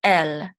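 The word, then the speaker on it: אֶל: The aleph is silent here, and this is a segol, and this segol says This lamed says l, so together it says el, el, el.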